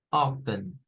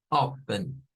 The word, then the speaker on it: often: común es la primera often often often nos vamos a quedar con esa la pronunciación de la t se vuelve menos común pero aunque existe yo